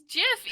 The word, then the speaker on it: GIF: is gif isn't graphic creator of it says that it's jif even though it's used even though graphics has a hard g so it's just soft g what's it listening until